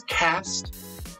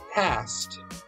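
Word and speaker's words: Caste: This is Cast. Am I saying it right? Cast.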